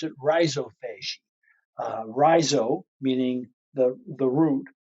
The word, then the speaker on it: rhizophagy: so root eating root eating some people say rizovagi it is a whole bunch of different ways to pronounce it but it's rhizophy r h i z o p h a